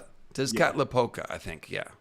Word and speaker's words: Tezcatlipoca: I could not pronounce it. Tezcatlipoca. Tezcatlipoca, I think. Yeah. Tezcatlipoca.